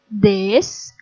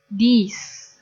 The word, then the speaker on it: these: Ingat cara pengucapannya, kalau yang ini this, kalau yang ini these. Bedakan ya cara pengucapannya this and these.